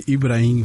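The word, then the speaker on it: Ibrahim: really good how would you how would you pronounce irim after you is impossible I mean I mean we we we say ibraim F right yeah was more the r it's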